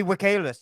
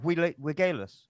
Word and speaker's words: Villegas: Villegas. Yeah, but the V as well. It's pronounced W. isn't it? Like Villegas. No, it's a Y. The two L's is a Y.